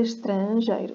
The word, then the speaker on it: estrangeiro: Não se esqueça que aqui estrangeiro não vamos ler, é estrangeiro, tá? É estrangeiro. Esqueça que o S está lá e pense que é um SH. Som russo, tá?